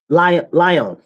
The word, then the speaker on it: Lyon: And this happened in Lyon.